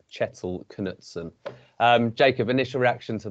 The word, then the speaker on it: Kjetil Knutsen: is norwegian chettle knutson i'm going with on the pronunciation bit of a difficult one but i've looked at a couple of sources and i think it is chettle knutson um jacob initial reaction